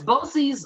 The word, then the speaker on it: BOCES: viewers what is what is a is it pronounced bosey boces yes boces uh is a um it's a an organization